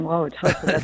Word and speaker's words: Wauwatosa: Aileen in Wauwatosa, Wisconsin. Aileen, go ahead with your question. Very good on pronouncing Wauwatosa.